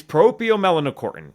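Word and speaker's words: proopiomelanocortin: ever somehow spell this it's a nine syllable it's propio melanocortin otherwise known as palc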